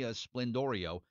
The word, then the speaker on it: Sblendorio: I just said well let me pretend the p is a b and or vice versa and uh that that